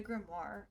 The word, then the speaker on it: grimoire: how do you how do you pronounce o i r e though war yeah that's what i was confused about it's a grimoire okay i get a